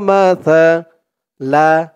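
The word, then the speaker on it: مَثَلَ: তার আওয়াজটা একদম নরম পাতলা হবে, জিব্বার মাথা উপরের দাঁতের মাথার সাথে লাগবে তার উচ্চারণটা করার সময়। ইন্না মাসালা, মাসালা, ইন্না মাসালা ঈসা।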